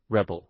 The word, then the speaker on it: Rebol: Actually, much more like third as the fourth was mere mandate that the first mention of Rebol have in parenthesis pronounced Rebel.